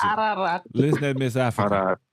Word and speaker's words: Ararat: How You say Ararat, Okay, how you but it's pronounce it? Ararat.